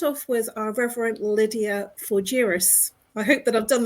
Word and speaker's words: Fougeres: Please bring out Reverend LYDIA for, I need to make sure I pronounce this right, so forgive me, LYDIA, if I don't, FOUGERES. It is okay, it's FOUGERES.